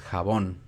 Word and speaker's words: jabón: Y en jabón es una palabra aguda, porque es jabón. Cae en la última sílaba.